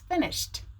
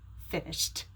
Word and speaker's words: finished: finished or finished it's finished because the sh is voiceless so pronounce the ed like a t finished and now we're finished